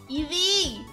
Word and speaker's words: Eevee: Oh, I also like Evie. There we go. I finally made it to the correct pronunciation.